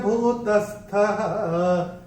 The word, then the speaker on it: भूतस्थः: मैंने चैंट किया भूतस्थः, भूतस्थः, क्योंकि पहले और तीसरे चरण की समाप्ति पे ओ का उच्चारण विसर्ग होता है। ये हम अपने पहले के वीडियोस में भी आपको बता चुके हैं, मगर इस श्लोक में आया तो फिर से आपको बताते हैं। यहाँ पे थो जो दिख रहा है अपनी किताबों में, उसका उच्चारण होगा विसर्ग।